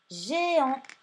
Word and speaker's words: géant: Vous n'oubliez pas le T muet à la fin, parce que c'est une fille, on dit géante. Et c'est bien le G qui va chanter J, puisqu'après, il y a un E.